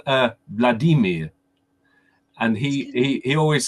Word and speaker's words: Vladimir: he has to talk he says hi my name's Vladimir as you would say it but that's wrong it's Vladimir yep y first syllable yeah that's why I'm